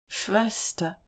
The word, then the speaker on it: Schwester: Schwester The sh sounds like sh.